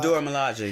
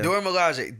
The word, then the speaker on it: Dora Milaje: You pronounce it very well. What the Dora Milaje? The Dora Milaje, yeah. Dora Milaje.